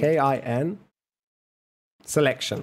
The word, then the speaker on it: kin selection: selection it's called kelation okay you're have to spell it for me Mr Scottish k i n k i i n selection k i n selection okay kin selection all right K selection is